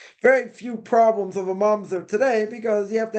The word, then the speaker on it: mamzer: Now, somebody asks, a mamzer, again, not a mom, there, let me spell it here. Not a monster, a mamzer, right? M-A-M-Z-E-R. That's how you pronounce it.